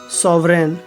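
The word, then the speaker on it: sovereign: में GN आने पर जी का उच्चारण नहीं होता जैसे साइन फॉरेन सॉवरेन ऐसे शब्दों में लास्ट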